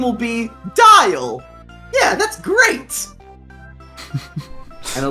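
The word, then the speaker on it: Dyal: your name will be dial yeah that's great and a little name plate appears under you that says dial spelt with a y you mean like smile there you go yeah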